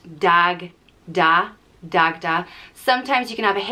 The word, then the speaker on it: Dagda: the hierarchy and and dagda is an easy one to pronounce and spell just dag da dagda sometimes you can have